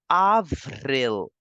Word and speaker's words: avril: A will give the sound of A, and you know the rule very well that L in the end makes the complete sound. So we will pronounce it as Avril.